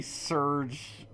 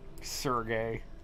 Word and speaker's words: Serge: you're naming him now you pronounce that sergey or serge i oh i am a surge unapologist i'm a surge truther sergey terrible that's what it is this